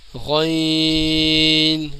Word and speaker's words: غین: یہ ہے عین، اور جبکہ غین، غین موٹا پڑا جاتا ہے، غین کے اوپر ایک